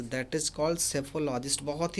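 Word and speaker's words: psephologist: option answer हो जाएगा यहां पर पीस साइलेंट रहता है सिर्फ इसकी स्पेलिंग पर ध्यान दीजिएगा कि यहां पर साइलेंट रहता है और ऐसे इसका जो प्रदर्शन होता है सैफोलॉजिस्ट होता है रिवर का मतलब जानते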